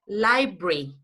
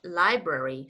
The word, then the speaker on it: library: You know, in England, this is said library. In England, you say secretary, military. But in the United States, you say library, secretary, military. Yes? Yes, the pronunciation is library. In the United States, library. In England, Library, okay.